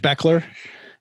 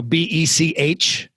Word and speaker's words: Bechler: find me at Coach Beckler, at Coach Beckler. And then my website is Spell it because it's not the way it sounds. Coach Beckler, it looks like Bechler. So Becler, Coach Beckler.